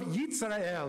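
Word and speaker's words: ישראל: the lamb, so are the children of Yitzrael, is how they say it, who dwell in Shamaron, in Samaria, to be rescued.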